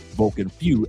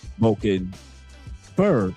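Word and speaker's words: Vulcan Feu: I know a lot of people pronounce it Vulcan Few, F-E-U, but it's actually pronounced in French, not in Spanish. Vulcan Few is Spanish, which means was. But Vulcan Fur is French.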